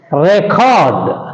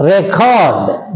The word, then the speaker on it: record: all the two syllable verbs take stress on the second syllable but there is a